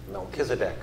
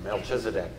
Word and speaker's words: Melchizedek: Melchizedek or Melchizedek. Pronounce it either way.